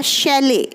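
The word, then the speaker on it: chalet: को बहुत ध्यान से स्टडी करेंगे क्योंकि इसकी स्पेलिंग और इसको बोलने का तरीका बिल्कुल अलग है तीसरा वर्ड है हमारा शैले ही आपके लिए एक नया वर्ड हो सकता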